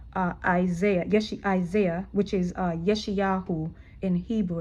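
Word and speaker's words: ישעיהו: Isaiah, Isaiah, which is Yeshayahu in Hebrew. It's pronounced Yeshayahu, right?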